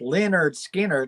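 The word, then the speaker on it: Lynyrd Skynyrd: half speed master cr i'm not interested yeah pronounced leonard skinner live from jacksonville yeah no i'm not interested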